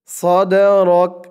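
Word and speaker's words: صدرك: পূর্বের র দিয়ে এই কাফকে ধরতে হবে, র কাফ জবর রক, রক এরকম উচ্চারণ হবে। সদ রক, সদ রক, আলাম নাশরাহ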